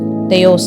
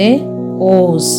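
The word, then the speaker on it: Θεός: தனியாக நம்ம ப்ரொனவுன்ஸ் பண்ணுறோமோ, இப்போ தேயோஸ் அப்படின்னு சொல்லாமல் தேயோஸ் அப்படின்னு நம்ம சொல்கிறோம். இப்போ தேஓஸ், அந்த ஓஸ் அப்படிங்கிறது நம்ம தனியாக சொல்கிறனால இந்த இடத்துல ஒரு ஆக்சன்ட் வரும்.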